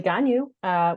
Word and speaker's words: Gagnon: uh what's your name I am gonyu which is a very illogical pronunciation of my name so it looks like Gagnon I'm really I'm really